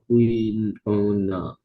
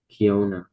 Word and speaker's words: quinoa: Kiona, No. Key? quinoa. Yes, it's Kiona. Okay? Sorry, quinoa. Okay? Key and Noah.